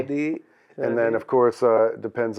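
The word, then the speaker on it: สวัสดี: You say Sawatdi, which is Sawatdi. Saudi. And then, of course, depends on this. The gender, right? But since we're everybody, we'll just do it like that. Sawatdi.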